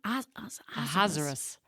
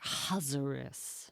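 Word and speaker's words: Ahasuerus: Hazerus. It's like there's an a in front, but it's like Hazerus. Yeah. Assurious.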